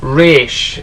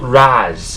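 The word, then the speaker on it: Ra's: pronunciation of race algol it's pronounced race not razz um if you watch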